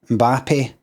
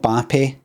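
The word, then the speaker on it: Mbappé: So that's how you say it. I looked it up. I double checked, triple checked. It's Mbappe. It's not Bappe. It's not Mbappe.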